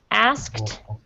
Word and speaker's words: asked: and that's this word asked okay asked is a difficult word to pronounce because it has the S the S sound then the K and then the T sound of that e because